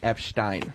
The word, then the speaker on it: Epstein: also for the record is pronounced epsteen epsteen that's Stein oh okay that's different